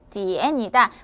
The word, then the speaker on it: 点: 시간을 나타낼 때 1시, 2시 할 때 시는 디엔이다.